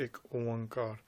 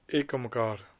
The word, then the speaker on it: Ik Oankar: It is essential that you say the Ik Oankar. There's others that say Ekamkar. It isn't Ekamkar neither. No, the pronunciation has to be said correctly.